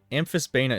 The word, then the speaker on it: amphisbaena: yeah with a 14 you'd be able to get out uh both sacks in the one head you have nice two amphisbana amphisbaena is spelled a-m-p-h i-s-b-a-e-n-a amphis bane wait guys where's